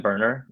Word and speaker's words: Boerner: And we're also joined by Boerner, Field CTO at Apollo GraphQL. I hope I pronounced your last name correctly.